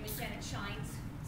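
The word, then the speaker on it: Schijns: It's spelled S-C-H-I-J-N-S, so it sounds like it would be, but it shines.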